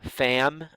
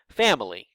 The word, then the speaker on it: family: with 3 distinct syllables, family, family. However, most of the time, when we're speaking less formally, we pronounce that with only 2 syllables, family.